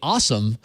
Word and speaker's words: OSOM: manufacturers is the company awesome because they they spell it a way that you like this you like to say awesome awesome awesome awesome awesome